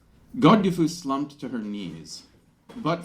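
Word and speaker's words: Godgifu: the way I'll say I use the old English uh spelling and pronunciation of Godiva so uh it's got gifu God dufu slumped to her knees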